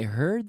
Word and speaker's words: heard: But be careful with the pronunciation. Hear, heard, heard. I want to hear that D, heard. I heard the news. I heard the news. She heard the news. We heard the news with the D, okay?